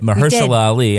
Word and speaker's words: Mahershala Ali: But I did like the performances of Mahershala Ali and, did I say it right? Mahershala Ali.